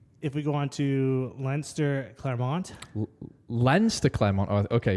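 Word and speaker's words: Leinster: I said lster clont I thought you mispronounced Lester cuz in my list it's Lester then and the Sharks no no it's lster and then Claremont okay I'll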